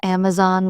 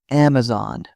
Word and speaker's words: Amazon: People often call Amazon with stress on the zone. It's Amazon.